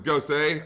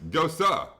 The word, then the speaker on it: Gose: Anyway, he was correcting me and saying it was Gose. I looked it up today in regards to pronunciation. We were both wrong. It's Gosa pronunciation.